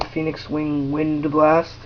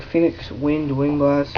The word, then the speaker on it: Phoenix Wing Wind Blast: pronounced that card right I never pronounced this card right I was think it's like Phoenix wind wing blast or some cuz everyone calls it wind blast but it's actually wind blast so um the chaps